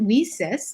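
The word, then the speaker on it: WiCyS: our acronym w-i-c-y-s and we pronounce it we cis like we sisters because that's exactly what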